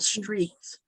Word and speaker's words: Streaks: It's called Streaks. No, you can't see it good, but it's an S and it streaks like running naked streaks. That's what it's spelt like.